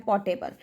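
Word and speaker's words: portable: हैं पोर्टेबल ठीक है आर इसमें साइलेंट है पोर्टेबल ठीक है जैसे आप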